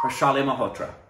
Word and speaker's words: Harshali Malhotra: Harshal, forgive me, I want to pronounce it right. That's an I, right? Harshali Malhotra. Yes, Harshali Malhotra.